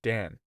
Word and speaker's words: Dan: the historian's name was dan pronounced just the same as lao dan laos seizing on this